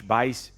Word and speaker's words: Buice: I'm on all the socials at Buice, B-U-I-C-E. It sounds like B-I-C-E, but it's spelled like juice with a B in front.